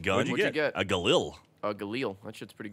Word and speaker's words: Galil: A Galil. A Galil. That shit's pretty good. That'll do. Galil White? It's pronounced Jalal.